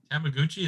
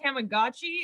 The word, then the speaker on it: Tamagotchi: still a thing what tamaguchi is still a thing i think it's pronounced tamagotchi and their who understands